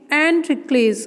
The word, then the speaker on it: Androcles: हम इसे कैसे प्रोनाउंस करेंगे, एंड्रिक्लेस.